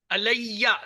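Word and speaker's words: عليّ: अलैया, दो आवाजें चाहिए मुझे या की।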